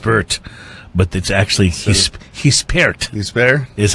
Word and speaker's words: Gispert: something that wasn't correct I was calling it Goose pert or just burped but that's actually this he spared his fare is how you said he's paired